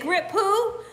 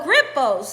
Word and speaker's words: Grippos: they're they can be real spicy you said grip who so Grippos is spelled g-r-i-p-p-o-s -g-r-i-p-p-o-s gripples you you gotta know